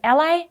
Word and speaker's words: a11y: stumble upon is a11y which is sometimes pronounced ally and that's just short for accessibility so the 11 stands